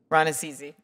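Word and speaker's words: Rannazzisi: Ranasizi, I keep saying your name wrong. How do you say it? Ranasizi.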